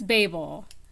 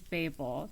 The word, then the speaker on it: Babel: will also say that the whole pronunciation thing um yeah it's it's Babel um there's accents where it may sound a little bit less like that but it is bable the power of Babel um the word Babel Has Two B's in it in the middle So ba BB not bab um so uh that's